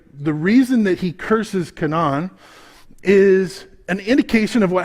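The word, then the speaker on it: Canaan: you notice that i i'm trying to use the jewish pronunciation we say kanan right where do we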